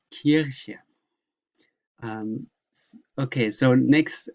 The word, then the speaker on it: Kirche: So Kirche, this, excuse me, church, you pronounce not Kirche, but Kirche. Kirche, that's an E. Kirche. In my province, we say Kirche, but it is Kirche.